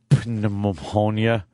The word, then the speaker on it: pneumonia: Diabetes or uh pneumonia. If you got the pneumonia, I can't think. Get rid of the P already. There's no reason for that P to be there.